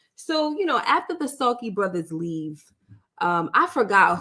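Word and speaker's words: Salke: the sulky Brothers okay is spelled s-a-l-k-e pronounced sulky so they they supposed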